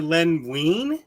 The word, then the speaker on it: Len Wein: his tongue and just I think it's really Len Wein. I said Len Len Wein.